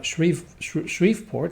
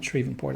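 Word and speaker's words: Shreveport: I think we are about to take Shre Shriveieport, not Shrevvenport. I might have mispronounced that earlier.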